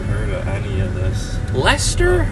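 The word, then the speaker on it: Leicester: of any of this leester the most difficult to pronounce town in all of Massachusetts Lester yeah exactly yeah uh it's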